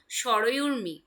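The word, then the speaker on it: সরয়ূর্মি: মিলিয়ে এখানে হয়ে গেল সরয়ুর্মি, সরয়ুর্মি, ঠিক আছে, সরি সরজুর্মিও তোমরা বলতে পারো, কিন্তু সরয়ুর্মি উচ্চারণটা হয়, ঠিক আছে, সরয়ুর্মি।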